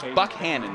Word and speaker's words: Buchanan: high school football producer, that he pronounces his name Buckhannon, even though it does look like what you'd expect to be Buchanan. It's the way the president, James Buchanan, pronounced his name. It's the way that most people who spell their name that way pronounce it Buchanan. But I was told, nope, Coach Buck says Buckhannon. That's how he pronounces his last name.